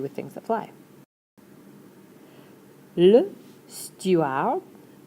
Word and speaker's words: steward: things that fly Le steward. You don't get to pronounce the D, so stew - ar(d).